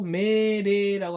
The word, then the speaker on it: 命令: 명령 일본어로 메레라고 합니다. 메레. 령이 레예요.